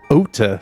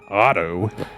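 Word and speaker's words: Ota: I'm just saying his name is OT, not Otto.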